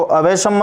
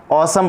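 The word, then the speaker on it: awesome: इसको अवैसम मत पढ़ना, यहाँ पर डब्ल्यू साइलेंट है, ऑसम पढ़ना है।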